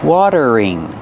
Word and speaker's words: watering: a watering can pronunciation watering the t is a fast D water water then use a voice R together water ring watering this is a watering